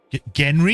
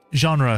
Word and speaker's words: genre: Genre, Felix. It's pronounced genre.